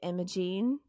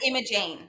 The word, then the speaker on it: Imogene: So in the South, I think, how would you pronounce it? You pronounce it Imogen? Imogen. Yeah. Is it just G-E-N at the end? G-E-N-E. G-E-N. G-E-N-E. on the end. I would pronounce that Imogene.